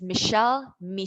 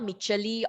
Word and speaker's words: Michelle: So just in case you know how to pronounce it, it's Michelle, not Micheli or Micheli, it's Michelle. There's only two syllables.